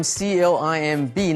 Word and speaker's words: climb: 这里我们来学 climb。climb C-L-I-M-B 呢 B 不发音，所以攀爬的这个动词 climb。We climbed a ropes